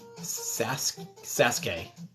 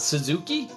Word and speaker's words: Sasuke: so it's pronounced saski Sasuke is it it's not Suzuki so Okie it's Sasuke like Daisuke Matsuzaka I may just have